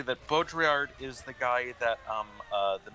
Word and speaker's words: Baudrillard: It's pronounced Baudrillard.